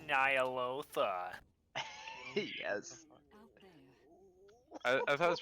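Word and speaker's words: Ny'alotha: Welcome to Zaki Boy, Harbinger of Nyalala. Actually, it's pronounced Nyalotha.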